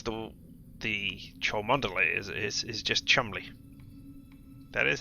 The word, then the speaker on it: Cholmondeley: Yes, how you pronounce the Cholmondeley is just Chumley.